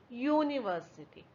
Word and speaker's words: university: Now, when we say university, it sounds like yellow or yak. So, it gives you the sound of Y. instead of U. That's why we consider it as a consonant and we say a university.